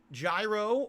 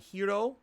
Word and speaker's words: gyro: have a traditional chicken gyro although I believe it's authentically pronounced like Hiro or something like that hero instead of Gyro g-y-r-o all right it's got